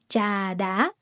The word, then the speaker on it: trà đá: Phở gà, and trà đá, falling tone, rising tone.